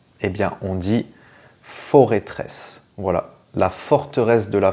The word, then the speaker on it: Forêtresse: suivant alors celui-ci est-ce qu'on dit foress ou for tresse et bien on dit forêtresse voilà la forteresse de la forêt et en